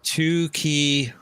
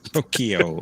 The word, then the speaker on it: Tokyo: Who is two key? Ooh, Say it right. Tokyo.